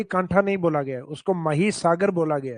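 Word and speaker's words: महीसागर: उसके नाम से है मही सागर। हालांकि इंग्लिश टाइटल तो वो माही लगता है अपने को, क्योंकि स्पेलिंग वही है माही, लेकिन उसका हिंदी प्रोनाउंसिएशन लिया गया मही सागर।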